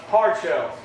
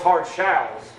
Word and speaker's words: hard shalls: That's why they call us hard shells. They say because we stand hard on the wills and the shalls of the Bible. It's actually a slight mispronunciation. They call us hard shalls, not hard shells.